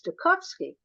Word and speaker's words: Stokowski: It's a Stokowski, but uh, years ago when he was still alive, the pronunciation is Stokowski Thank because you.